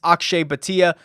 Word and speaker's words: Akshay Bhatia: Akshay Bhatia, I believe is how he pronounces that.